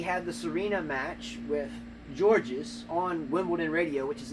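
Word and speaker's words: Görges: It could be Yeah, gorgeous so, for all you know, but it's Georges, because I've heard it today.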